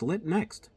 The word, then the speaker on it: LitNxt: shipper we're good friends lit next that's spelled lit NXT and so they sent us